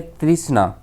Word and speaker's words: तृष्णा: ई अ न होके, जैसे कृष्ण न बोल के कृष्णा बोलते हैं, वैसे तृष्ण न होके हम तृष्णा बोलते हैं, इसलिए इसमें आर के बाद आई लिखते हैं।